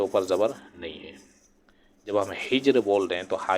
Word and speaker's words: حجر: کا درست آپشن ہوگا۔ تو ہجر پڑھا جاتا ہے، نہ کہ حجر پڑھتے ہیں یا ہجر پڑھتے ہیں۔ اب اگلا نمبر ہے سوال نمبر 18، سورہ کہف کا صحیح تلفظ کیا ہے؟